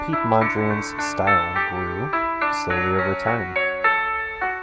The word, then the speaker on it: Piet Mondrian: about an artist and his name is pete mondrian and yes that is the way his first name is spelled p-i-e-t and he was an